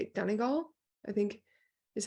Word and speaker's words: Donegal: Donegal, I think is how you say it, which is Sounds like a real place.